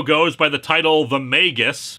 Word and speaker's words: Magus: the title The Magus I am using this pronunciation under protest after the last time you all said it goes like that I still think Magis sounds better after all we don't pronounce magic magek now do we this is GIF